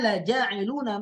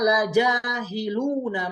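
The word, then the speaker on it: لجاعلون: Asli kan la ja'iluna ya, la ja'iluna. Tapi suatu ketika ada yang ada kesalahan lah begitu ya. Ada sedikit kesalahan sehingga terbacanya adalah wa inna la jahiluna ma 'alaiha sha'idan jurza. Harusnya la ja'iluna menjadi la jahiluna.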